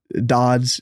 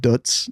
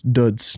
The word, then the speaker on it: døds: now because it's pronounced duts the O the o with the line through it is its own letter that's not in the English alphabet I didn't know that